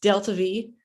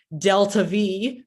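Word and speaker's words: delta-v: So yes, pronounced delta V, or delta V by enthusiastic rocket scientists.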